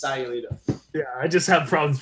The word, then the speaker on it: Sayulita: Sayulita, for everybody who's watching and doesn't know where that is, there's no such place called Sausalito. It's Sayulita.